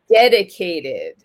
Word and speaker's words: dedicated: need your help here dedicated dedicated oh okay so yeah we have the stress on the first syllable okay they dedicated dedicated